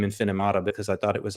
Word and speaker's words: Infinimata: I'm not entirely sure how to pronounce that either. Yeah, Infinimata. Infinimata, exactly right.